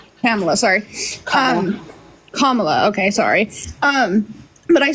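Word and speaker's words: Kamala: I saw a comment so I'm voting for camela or I'm not entirely sure how to pronounce her name camela sorry kamla okay sorry um but I saw a comment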